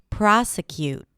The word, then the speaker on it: prosecute: The next word is prosecute. Prosecute. The primary stress here is on the first syllable. Pro pra pro. Prosecute. To prosecute, by the way,